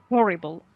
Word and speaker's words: horrible: go ahead mohammed aziz horrible in in english we pronounce the h so buckbeak yes is